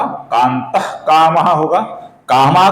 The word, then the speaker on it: कान्तः: उच्चारण करना पड़ता है, उसी प्रकार विसर्ग के आगे जब क आता है दोस्तों, तो विसर्ग का हल्का सा ख ऐसा उच्चारण हम करते हैं, अपूर्ण ख का उच्चारण हम करते हैं। ऐसा उच्चारण हमें यहां पर करना होगा।